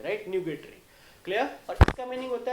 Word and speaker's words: nugatory: Come to the next 13th, न्यूगेटरी। Pronunciation is what, न्यूगेटरी, right. सो न्यूगेटरी से हम क्या बता सकते हैं, न्यूगेटरी is what, basically it's rapture, rough, tardy और फ्यूटाइल।